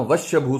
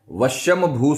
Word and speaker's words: वशंभू: कई लोग बोलते हैं त्रीम त्रीम त्रीम, नाम वश्यभू स्वाहा, उससे गड़बड़ हो जाएगी। वशंभू स्वाहा ये संस्कृत के